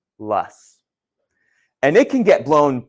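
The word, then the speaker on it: loess: ah it does not we call this lus that's this word right here l o SS pronounced lus and it can get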